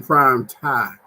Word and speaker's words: Prime TImE: checking us out on prime time where the m is silent and was small because